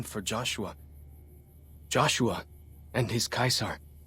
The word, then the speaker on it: Caesar: He guided us away from Kaisar and showed us how Kaisar would have destroyed us.